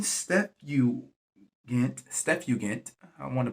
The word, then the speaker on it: Septuagint: The name Septuagint, I want to pronounce that right. Follow me here. Septuagint.